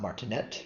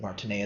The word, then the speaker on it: martinet: And the reason I'm pronouncing it not Martineette, but Martinea is the person is he was a French general in the 19th century.